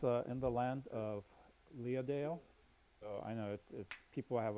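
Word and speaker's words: Leadale: in the land of leah dale oh i know people have a hard time pronouncing it but in japanese it's so think leah the name and dale right like like the dale um so in the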